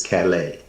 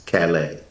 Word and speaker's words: Callais: Louisiana versus Calais. It is spelled Callais. Okay. Louisiana versus Calais.